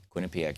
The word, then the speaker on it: Quinnipiac: can find it over at their website Quinnipiac is spelled Q UI NN i p i a Quinn Pak University although you know it's easy to find